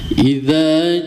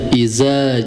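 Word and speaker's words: إذا: bagi pembaca itu biasanya ketika menyebutkan huruf dza dza ya itu bisa tertukar dengan huruf zain ya. Ada yang menyebutkan idza ja idza harusnya idza ya idza.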